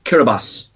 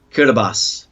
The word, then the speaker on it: Kiribati: we also have off on in the islands Kiribati.